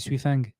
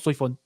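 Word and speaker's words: Soi Fon: C'est pareil dans le vrai nom de Soifon, dans Bleach, c'est pas Soifon, c'est Suifeng.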